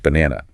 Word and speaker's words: banana: The stress is on the middle syllable.